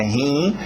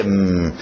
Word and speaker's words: him: Não é rim, é him.